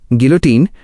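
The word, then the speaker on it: guillotine: गिलोटिन, pronunciation गिलोटिन, एक पुरानी machine थी जो सिर काटने के काम आती थी।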